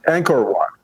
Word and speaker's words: Angkor Wat: I know it's a Cambodian temple, but Angkor Wat, I think it's pronounced. Does that make sense? Yeah, Angkor Wat.